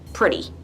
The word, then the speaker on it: pretty: And notice how I pronounce pretty like it's spelled with a D instead of a T, like pretty.